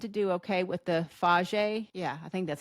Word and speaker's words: Fage: I tend to do okay with the faj Yeah, I think that's how you say it. Faj yogurt. I say fage, but I think it's faj yogurt.